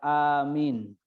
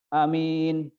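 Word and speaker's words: آمين: amin, bukan gini, bukan amin. Jadi alifnya itu panjang, hamzahnya itu amin, yang artinya ya Allah kabulkan doaku.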